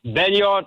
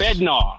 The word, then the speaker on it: Bednar: um what you said about uh Bennyard uh I get I always have problem pronouncing his name which one I'll close it out yes Bednar I'm Sorry, Bednar.